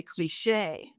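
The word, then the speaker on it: cliché: pronounce the word that she pronounced it in the North American way cliche I pronounce Australian and British anyway um parting point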